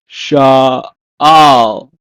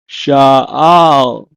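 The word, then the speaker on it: שאל: In Hebrew, is pronounced as sha'al, sha'al.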